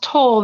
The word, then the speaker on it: Tolle: And that's where, and it's pronounced Toll, not Tolle. I've mispronounced his name.